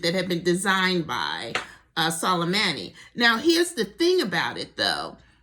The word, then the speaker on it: Soleimani: And the extreme is we can kill General, how do I pronounce his name? I want to say it correctly. Soleimani.